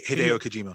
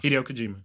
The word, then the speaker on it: Hideo Kojima: Hideo Kojima. Hideo Kojima.